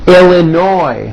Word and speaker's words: Illinois: California, Colorado, Connecticut, Delaware, Florida, Georgia, Hawaii, Idaho, Illinois. The final S is silent.